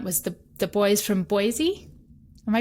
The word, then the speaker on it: Boise: musical by dumont was the the boys from boise am i pronouncing that correctly yeah boise uh from all accounts it was quite extravagant